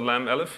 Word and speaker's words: Lam-Alif: If you put the lam and the elif next to each other, they actually combine into a single character called the lam elif. That's pronounced la.